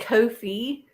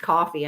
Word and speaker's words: Ko-fi: thought it was like Kofi so did I so did I yeah because it is like a cup of coffee yeah but I kept